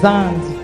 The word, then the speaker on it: Zandi: Vous l'avez dit Zadi. C'est Zandi.